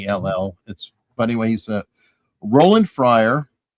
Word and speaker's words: Niall: It's Niall.